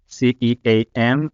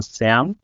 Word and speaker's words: SEAM: our local IFES movement, which is called CEAM, or in our pronunciation, SAM, which basically stands for Student Evangelical Association in Macedonia.